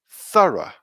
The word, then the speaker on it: thorough: say it with me thorough thorough thorough so thorough is the pronunciation of that word there let's have a look